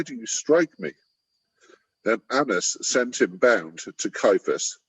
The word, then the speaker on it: Annas: And did you know that the name Annas, is that how you pronounce it? Yeah. Annas?